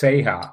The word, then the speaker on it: SeHa: say it's it's pronounced seha well no no the anime series is say and that's short for se Sega the SE from Sega and the ha from hard girls the anime is called